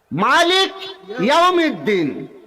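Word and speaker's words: مالك يوم الدين: মালিক ইয়াউমিদ্দিন একসাথে লাগানো যাবে না, মালিক ইয়াউমিদ্দিন।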